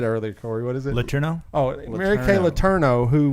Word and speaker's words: Letourneau: Letourneau?